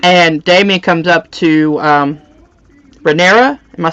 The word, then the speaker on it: Rhaenyra: and Damien comes up to Rhaenyra, am I saying her name correctly? Mm-hmm. Rhaenyra, and he's like, you know, your father wants you to be strong.